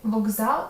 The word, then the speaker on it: вокзал: Колесо, мокрий, вокзал, скупість. В словах колесо мокрий і скупість к цілком чіткий, але в слові вокзал відбувається вже добре знайома тобі асиміляція за дзвінкістю. Г є дзвінким відповідником глухого К, який перед з ко от звінчується.